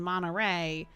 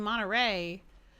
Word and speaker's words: Monterey: where it's like in Monterey I'm not saying the T in Monterey at all or Santa Monica I'm